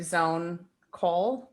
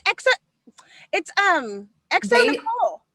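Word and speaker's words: xoNecole: So I think it's like Zone Cole, but I no, I know this person. It's Exo Nicole. You're talking about Exo Nicole?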